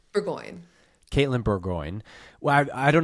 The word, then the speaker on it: Bourgoin: Bourgoin.